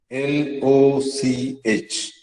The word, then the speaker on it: loch: Similarly, H, L-O-C-H, is the Scottish word for lake, L-A-K-E. And they still pronounce it as loch. Okay, that guttural sound that you just heard.